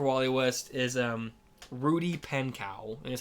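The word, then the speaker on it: Pankow: Um, so my pick for W-Ally West is um Rudy Pankcow and is how you say his last name.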